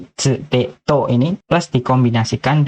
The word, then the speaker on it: tsu: Yaitu chi dan tsu. Chi dan tsu. Ya, dua huruf ini kalian harus ingat, ya. Dan harus kalian hafal, ya. Jangan kalian menyebutkan ti sama tu ya, karena dalam bahasa